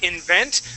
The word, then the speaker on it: invent: good yes so uh invent good pronunciation with that word uh the accent Falls uh on the on that e in vent okay and your eye